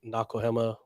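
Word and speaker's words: Nakoahema: can find us Instagram it's at nakohama almost phonetically right uh n-a-k-o-a-h-e-m-a yeah and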